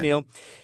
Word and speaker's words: McNeill: That's how you pronounce it, right? McNeill? Yes, Okay, that's right. Yeah. McNeill.